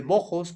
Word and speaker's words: Moxos: Ejemplo de ello son las dos poblaciones de Mojos, que se escribe Moxos, ustedes ya lo conocen